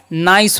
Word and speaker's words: nice: ठीक है, इसीलिए हम क्या पढ़ रहे हैं, नाइस पढ़ रहे हैं और ई का उच्चारण नहीं कर रहे हैं।